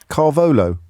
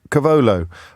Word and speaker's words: cavolo: do you know I put how do you pronounce it again carolo Cavolo I put I put Cavolo Nero in my